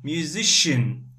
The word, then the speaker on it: musician: have C I am we say Shin shin musician okay here we have double C accountant we